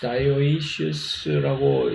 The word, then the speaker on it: dioecious: 그래서 그런 것이 있는가 하면은 이 암수가 딴 그루 이것을 영어로는 dioecious라고 발음을 하고 한국말로는 암수 딴 그루라고 읽는다 라고 얘기를 하면 되겠죠.